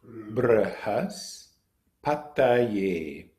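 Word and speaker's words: बृहस्पतये: The first part is br, and if you can roll your R, try that, br, or just do br, br, and then has, brhas, brhas, pataye, pataye. So we have brhas, pataye, brhas, pataye, namaha.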